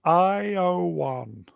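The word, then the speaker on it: Ioan: Bedelia, pronounced Iowan.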